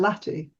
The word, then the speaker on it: latte: And then when you dropped it off, you found out the way to pronounce it is. Yeah, latte, like everybody else in polite society.